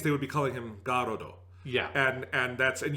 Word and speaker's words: Garrod: because he's go so so garrod is what i'm going with i feel like i just like the fact that the o is emphasized because it's got to be a lot lengthened yeah it has to be that long oh um yeah it's